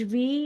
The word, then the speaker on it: We: English वी is pronounced as फाउ in German.